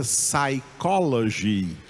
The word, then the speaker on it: psychology: Não, psicologia em inglês é psychology. Psychology. Não é psychology, é psychology. O P está escrito, mas não é pronunciado.